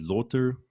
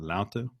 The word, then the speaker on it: lauter: brewing and after mashing your lauter or lauter probably the more correct way of pronouncing it and that's where all